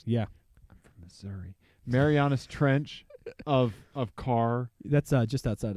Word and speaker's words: Marianas Trench: it the Marianas Trench is that how you pronounce it yeah Marianas Trench yeah sorry Marianas Trench of car that's just outside of st.